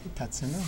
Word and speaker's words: Tatsuno: C'est bien comme ça qu'on le prononce? Oui, Tatsuno, oui.